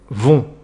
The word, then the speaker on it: vont: On obtient il vont là aussi le t à la fin est muet et ne se prononce pas.